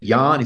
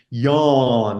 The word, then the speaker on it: Jahn: h n and say Yan said no it's yawn like you're yawning so I got it